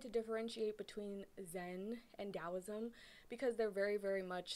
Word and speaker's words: Taoism: you're super new to taoism then just know that it does um it is spelled with a t but it is pronounced with a d sound okay that's the boring